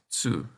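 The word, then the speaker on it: つ: That's right, this kana is pronounced tsu. The t kana are irregular, with pronunciation ta, chi, tsu, te, to.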